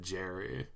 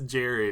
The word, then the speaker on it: Gary: friend of yujo hanma his name's Gary but he pronounces it Jerry he says it's yeah his name is Jerry but it's spelled g